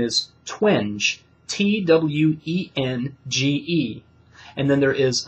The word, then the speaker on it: Twenge: sure, it's Jean, and the last name is Twenge, Twenge. And then there is another researcher whose name I believe is pronounced Shevnievsky.